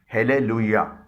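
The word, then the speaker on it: Hallelujah: یو جے اے ایچ۔ اسے بولا جاتا ہے ہیلیلویا۔ یہ ایک مذہبی لفظ ہے جو چرچ میں گانے سے متعلق ہے۔ اس لفظ میں جے سے ج کے بجائے یا کی ساؤنڈ نکل رہی ہے۔ کچھ اسپینش الفاظ ہیں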